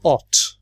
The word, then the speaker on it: thought: it they finish it thought the GH here we don't pronounce silent so we say what